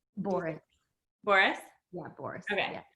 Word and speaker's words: Borras: Boris.